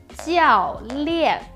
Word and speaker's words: 教练: The correct pronunciation is 教练 with an e sound, but he sounds almost like a flat T in the English word, like little, little.So the L sound